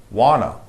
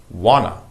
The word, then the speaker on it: wanna: ain't number five wanna wanna it means what - but we don't pronounce the T sounds wanna I want to eat